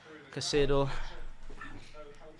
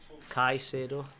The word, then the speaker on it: Caicedo: as well Yeah, from yeah, not Caicedo. Caicedo. Got every syllable wrong there.